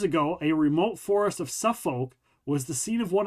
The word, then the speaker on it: Suffolk: Because it's a Suffolk story. See what I did there? It's spelled that way, but it is Suffolk.